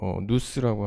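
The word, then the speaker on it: νοῦς: 읽을 때는 우리가 누스라고 하는데요. 누스라고 읽는데, 예, 정신, 이 만물의 존재의 그 근원 원리로 아낙사고라스를 봤습니다.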